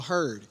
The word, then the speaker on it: heard: A heard.